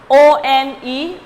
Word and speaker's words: one: Because this word one starts with a vowel but has a consonant sound. How? O-N-E, one. How I am pronouncing one? And the W-A-N, I am pronouncing one. So there is a sound of W, and W is a consonant.